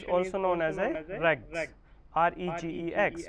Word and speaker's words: regex: Regular expression is also known as a regex, R-E-G-E-X, where G will be pronunciation as a silent, so regex.